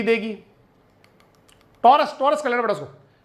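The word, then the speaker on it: Taurus: गलत लिखी हुई है इसको आप करना टोरस टी ए यू आर यू एस इस तरह से होता टोरस कहते टोरस टारस नहीं कहते वो टेक्निकली हर बुक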